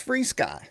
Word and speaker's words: FrSky: Is it FRsky or FreeSky? Okay, I got to stop you right there. When you said FreeSky in our video earlier today, I was like, finally I know how to say this. That's why we're here. Tell me why it's FreeSky.